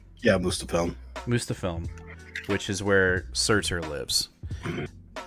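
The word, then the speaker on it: Muspelheim: He basically sends him, or tells him to go to, now remind me how to say this, Mustafilm? Yeah, Mustafilm, which is where Surtur lives.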